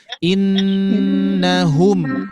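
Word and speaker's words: إنهم: Berarti dibacanya innahum harus betul-betul terasa pangkal lidahnya. Nah, ini yang sering terjadi adalah H ini diucapkan seperti ayah bunda mengucapkan rumah biasa. Itu kan sering ya disampaikan oleh para guru-guru ya. Biasa aja kalau mengucapkan huruf H seperti kita mengucapkan huruf apa? Mengucapkan kalimat rumah.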